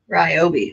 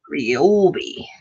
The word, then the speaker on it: Ryobi: Ryobi. That's why it looked weird. Because I was not pronouncing all the letters. Or some people say Ryobi. Ryobi.